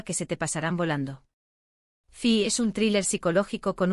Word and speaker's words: Fi: La primera serie en nuestra lista es una que me enamoró desde el primer minuto, Fi. Se pronuncia como la letra F en inglés.